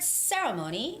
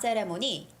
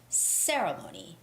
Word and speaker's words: ceremony: stress and the word ceremony you see very often but it's not ceremony it's ceremony ceremony with the first syllable stress ceremony okay and ellen